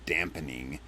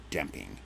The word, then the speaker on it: damping: even know what it's called they call it dampening most people don't don't even know how to pronounce the word right correctly i should say most people don't even know how to pronounce the word correctly it's damping um it's not dampening it's they're not dampened